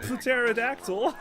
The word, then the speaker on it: pterodactyl: We got a pterodactyl. The P is silent.